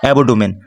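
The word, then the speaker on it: abdomen: মানে এমনভাবে আলাদা করতে হবে যেখানে আমাদের উচ্চারণ আসতেছে এবডোমেন যার মানে হচ্ছে তল পেট বা নিচের পেট।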